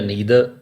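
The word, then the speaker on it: neither: So next है नाइदर या नीदर। सो नाइदर या आइदर ये ब्रिटिश प्रोनाउंसिएशंस हैं और ईदर नीदर अमेरिकन प्रोनाउंसिएशंस हैं।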